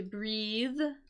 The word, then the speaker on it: breathe: to breathe right and notice the difference between the spelling and the pronunciation of those words we have breath with that uh unvoiced th sound right that's for the noun right versus to breathe the verb there with an the voiced sound so to take a